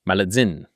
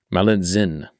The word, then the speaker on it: Malintzin: Malintzin. T-Z-I-N. It's got to be Zin.